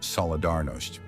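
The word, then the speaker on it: Solidarność: Led by an electrician named Lew Wuensa, they formed a trade union called Solidarity, pronounced Solidaros.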